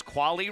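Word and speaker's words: Kvale: viewable on YouTube as Quali Real Estate brings you the instant replay. Again, the spelling between the two a little bit different. The Quali real estate instant replays KV A L E.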